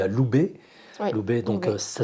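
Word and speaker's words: ube: Alors, parmi les plantes aussi adaptogènes qu'on a citées, il y a l'houbé. Oui, L'houbé, donc oui. ça s'écrit U-B-E.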